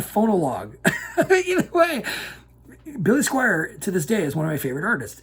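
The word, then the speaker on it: Squier: that down kids and it's spelt s-q-u-i-e-r squire like the guitar not squire like the royal squire or re no no no billy squire if you're not familiar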